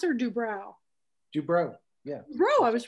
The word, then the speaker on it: Dubrow: Anyway, what matters most to Mickey Dubrow, is that how you pronounce it, or Dubrow? Dubrow, yeah.